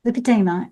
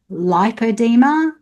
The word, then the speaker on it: Lipedema: Lipadeema is a frequently misunderstood and alarmingly underdiagnosed issue. Let's take the name just on its own. It is pronounced lipadeema, lipodma.